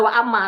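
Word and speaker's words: وأما: Dibacanya waamma nih. Waama ada hamzahnya di atas kan di atas alif ada hamzahnya itu berarti waamma. Kalau di bawah hamzahnya berarti wa im.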